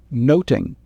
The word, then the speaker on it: nothing: In Shakespeare's time, the word nothing would be pronounced the same as noting.